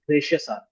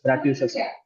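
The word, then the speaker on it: gratuitous: o u s okay many people pronounce this as gracious no it is not gracious is bratucious braticious Okay, gratitious.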